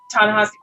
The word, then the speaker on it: Ta-Nehisi: Oh my gosh, this man, Ta-Nehisi Coates.